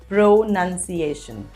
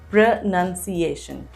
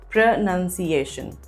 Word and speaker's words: pronunciation: is our first word how do you pronounce it it's not pronunciation the correct way to say this word is pronunciation repeat after me pronunciation that's what we are